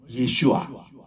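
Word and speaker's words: ישוע: 그 아들을 낳으리니 그 아들의 이름을 예슈아. 우리 따라합시다. 예슈아. 예수님을 히브리 말로 예슈아라 했거든요.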